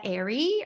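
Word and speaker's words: Ehri: he's going off the work of Dr Linnea Airy her name is spelled e h r i Dr Linnea Airy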